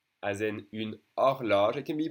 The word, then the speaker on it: horloge: O as in une horloge. It can be pronounced A or O. A, O. It depends. Une horloge, the H is silent for a clock.